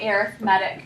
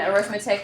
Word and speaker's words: arithmetic: subtracting multiplying dividing but in a sequence name we pronounce it arithmetic so we kind of break up the syllables a little bit differently there this is an arithmetic